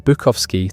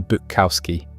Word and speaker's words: Bukowski: The pronunciation of their last name changed from Bukovski to Bukowski. Sound more American.